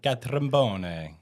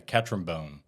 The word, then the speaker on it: Catrambone: Catrambone. Oh, it's Italian. Yeah, Catrambone.